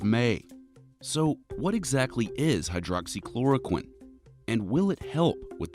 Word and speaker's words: hydroxychloroquine: few weeks we've been hearing these six syllables over and over again hydroxychloroquine hydroxychloroquine i happen to be